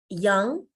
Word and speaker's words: yang: And yang is Y-A-N-G, but the pronunciation should be Y-O-N-G.